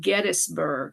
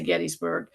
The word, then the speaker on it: Gettysburg: in the the small town of it's actually pronounced Gettysburg. I had a roommate who was from Gettysburg, Pennsylvania. So anyway, we say Gettysburg.